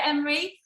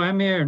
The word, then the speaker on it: Emma: Well, it was a pleasure to meet you, Emery. And no, Emma, not Emery. Emma, I told you, I keep saying it wrong.